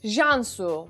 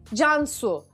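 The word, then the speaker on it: Can Su: really because in Turkish I can pronounce this word as Jean su and that's not the right pronunciation of my name it's John Hsu well John means like the Hindi word John which means life it's exactly the same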